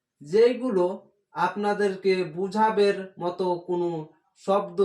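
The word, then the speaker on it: ز: দাল জাল র, জা, যা উচ্চারণ হবে ঝিনঝিনা আওয়াজ হয়ে, কেমন ঝিনঝিনা, দাঁত, দাঁতের নিচে জিহ্বাটা দাঁতের নিচে যা যা যা এভাবে ঝিনঝিনা আওয়াজ হবে, র যা, সিন, জিহ্বাটা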